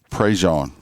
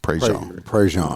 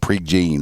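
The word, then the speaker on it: Prejean: Prej is how it's pronounced here. Prej not pre gene or no.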